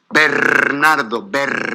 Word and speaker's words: Bernardo: Bernardo. If you can't roll your R's, please, don't embarrass yourself and just call me Mr.